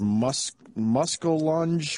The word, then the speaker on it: muskellunge: He said, "I think it's pronounced muskellunge will take your arm off in a lake."